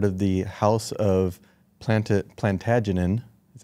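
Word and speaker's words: Plantagenet: he was part of the House of plant plantagen that's how you pronounce it so the house of plantagen the folklore stated that it was the descendant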